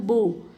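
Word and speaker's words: bow: होते हैं होमोनिम्स इसके बाद आपका है होमोग्राफ होमोग्राफ का मतलब same spelling different sound for example बी ओ डब्लू बो देखो बो और बो बोलने का तरीका अलग है प्रोनंसिएशन अलग है साउंड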